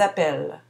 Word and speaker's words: appellent: J'appelle, tu appelles, il appelle, et au pluriel, elles appellent. Je ne prononce pas le E final, mais on prononce bien les L. Le verbe s'écrit avec deux L.